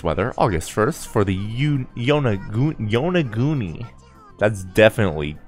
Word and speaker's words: Yonaguni: Today's weather, August 1st, for the Yonaguni, that's definitely pronounced wrong, region of Okinawa Prefecture will be sunny with southbound winds.